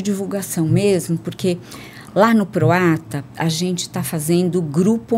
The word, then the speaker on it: Proata: Proata é como se fala, sem H, sem nada no meio.